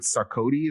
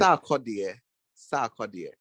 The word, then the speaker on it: Sarkodie: It's a song she did with Sarkodie.